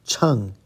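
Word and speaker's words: 秤: Here's fourth tone, cheng, weighing scale or balance.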